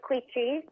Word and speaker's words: Quici: spelled Qi c i it's Italian so it's quei uh like Gucci so um it's quy because a lot of